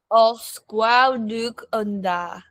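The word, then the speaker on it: Os gwelwch yn dda: Os gwelwch unda.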